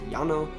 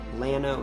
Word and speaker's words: Llano: for the staked plains although the spanish pronunciation of the word is yano texans typically produce it llano instead so that is